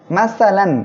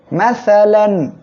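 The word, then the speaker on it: مَثَلًا: আমরা কি করে পড়বো স্পষ্ট আকারে পড়বো কোন গুন্না করবো না মাসালান মাসালান কেউ যেন এখানে উচ্চারণ করবেন না মাসালান এটা করলে ভুল হবে আমাদের সঠিক ভাবে উচ্চারণ করতে হবে মাসালান হামজা সদ জবর খেয়াল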